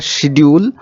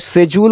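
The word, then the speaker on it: schedule: Expected to announce the সিডিউল অর সিজউল অর স্কেজউল যেকোন একটা উচ্চারণ করতে পারো ঠিক আছে ব্রিটিশরা এটাকে সেজউল বলে আমেরিকানরা স্কেজুল এবং ভারতীয়রা এটাকেশিডিউল টাইপের।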